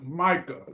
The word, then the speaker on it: Micah: Hey, so here's your boy, uh, FGB, uh, Mika Parsons. Did I pronounce that right? Mika. Micah. Micah.